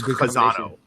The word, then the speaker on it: Chazzano: In Hebrew is chazan. And my mother was Jewish, and my father was Italian Catholic. So the O at the end makes it Italian. So it's Chazzano.